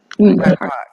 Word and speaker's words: BIPOC: BIPOC.